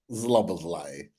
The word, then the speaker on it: Szoboszlai: Szoboszlai.